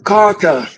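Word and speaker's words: Qatar: It's Carter. It's a Carter. The pronunciation.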